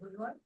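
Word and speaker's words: Le Roy: area, which is the town and village of Leroy. And I have Lynn Beluccio sitting on my shoulder telling me the proper pronunciation of Leroy is Leroy.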